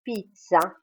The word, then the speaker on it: pizza: veut dire je m'appelle le Z se prononce ce quand nous disons pizza les Italiens disent plutôt pizza et le G plus